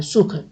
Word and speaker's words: सुख: सुख जो लिखा है, सुह, यानी सु भर नहीं बोलना है, सुख। सुह, अंदर ह आनी चाहिए, ठीक है।